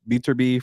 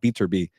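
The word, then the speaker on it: Beterbiev: it could be bivo or maybe uh uh beb from Russia those guys need to fight by the way a Bibble and beater be I gotta say his name properly my bad uh beater be but uh yeah obviously you got Terence Crawford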